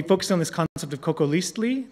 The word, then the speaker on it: Cocoliztli: on this concept of coco leastly today that's the way you would pronounce it in nawat that's the language of the aztecs i studied nawaz